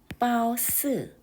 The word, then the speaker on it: 褒姒: 중국어 발음으로는요. 빠오스, 빠오스.